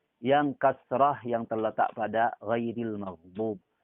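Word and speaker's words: غير: kasrah yang terletak pada ghairil maghdub. Ghairil sering terbaca ril ini dimiringkan sama sebagian kita. Sebagian orang yang baca Al-Quran dibacanya ghairil. Rel sama ril beda. Rel, dil. Jangan dibaca rel.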